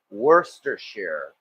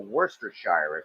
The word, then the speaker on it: Worcestershire: course Worcestershire sauce and yeah that's how it's pronounced Worcestershire or Worcestershire if you prefer sauce I know the running